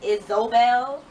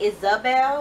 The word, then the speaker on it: Isobel: Like, her name is Isobel instead of Isabel. Like, it's spelled like I-Z-O instead of like I-S-S-A. So I want to say Isabel, but it was annoying me that the pronunciation was Isobel.